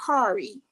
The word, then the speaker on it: Corey: Yeah, that's my business name, Foy's Creation, but my real name is Kari. Okay, it's spelled Corey, but it's pronounced Kari.